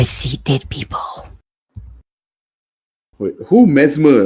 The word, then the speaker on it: Mesmer: Mesmer, right? Yeah, Mesmer. How do you spell it? MESMER, Mesmer, yeah. Like as in mesmerizer.